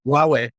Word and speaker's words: Huawei: whole iPhone or you know how do they pronounce that why Huawei Huawei that's it guys just use it with